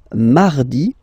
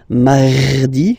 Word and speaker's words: mardi: So you can hear that you don't pronounce it that strongly, this R. Huh? Mardi, mardi, okay? You don't need to go too deep like mardi, no, no, no. You don't move your tongue, so it doesn't sound like mardi, no.